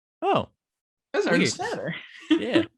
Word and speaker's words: Ernst Tanner: I think it goes to show you what patience, what having someone like Ernie Stewart to Ernst Tanner. Yeah, you had that right. Yeah, I was like, yeah, that's the pronunciation.